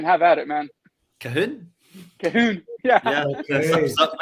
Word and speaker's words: Cahoon: Cahoon.